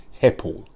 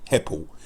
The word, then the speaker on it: Hepple: So his reasoning, he says, his name, people, everybody, his name, okay, is Jake Heppel. And he's from Colne in Lancashire. His name is spelled Hepple. Jake Heppel.